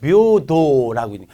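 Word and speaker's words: 平等: 그 다음에 이거는 평등자는 이거는 읽기 문제에도 잘 나와요. 묘도라고 읽는 게 되게 특이합니다. 평자가 헤이라고 많이 읽는데 묘도 이런 거.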